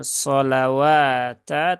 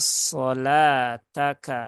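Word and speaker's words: صلاتك: Jadi ini bukan solawata tetapi inna solataka ya.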